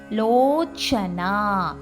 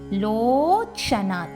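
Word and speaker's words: லோசனா: லோச்சனா லோச்சனா சா சப்பாத்திக்கு வர சா.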